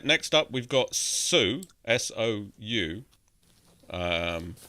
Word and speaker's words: Sou: I don't know So why I guess S-O-U is pronounced so, but I'm pretty confident that's what.